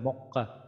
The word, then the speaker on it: মক্কা: তো এখানে কিন্তু মক ম ক কা হয় না, এরকম ম ক কা হয় না, এটা মক্কা, মক্কা, ক এর মধ্যে হসন্ত দিয়ে তার পরের কটা উচ্চারণ করি, এরকম মক্কা।